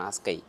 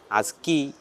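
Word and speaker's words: ASKY: വണ്ടി ആസ്കൈ ആസ്കൈ എയർലൈൻസിന്റെതാണ് ആസ്കൈ പലരും പല രീതിയിൽ ഉച്ചരിക്കും പലര് അസ്കി അസ്കി എന്ന് പറയും എസ്കൈ എന്ന് പറയും പക്ഷേ ആസ്കൈ എന്നാണ് യഥാർത്ഥ ഉച്ചാരണം ആ സ്കൈ എന്ന് വെച്ചാൽ ആഫ്രിക്ക സ്കൈ അവരുടെ ഫ്ലൈറ്റിലാണ് പോണത് ഫ്ലൈറ്റ്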